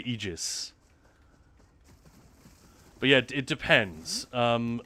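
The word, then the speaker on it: Aegis: Well, go and talk to the NPCs at K's Eegis and you'll hear them say Eegis.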